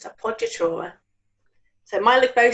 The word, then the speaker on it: appoggiatura: No alternative pronunciations here, it's appoggiatura.